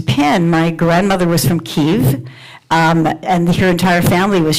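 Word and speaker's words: Kyiv: our services that that it's not kiev it's kiev um kiev is the soviet spelling and the soviet pronunciation and we need to recognize and honor ukrainian pronunciations and ukrainian spelling so try your best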